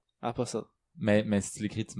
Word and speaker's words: Apostle: Y a pas ben, tu prononces pas le T, en fait. Ok. Apostle. Apostle.